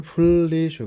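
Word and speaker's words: 분리수거: फुनरी सुग लेखेता पनि उच्चारण फुल्ली सुग हुन्छ है।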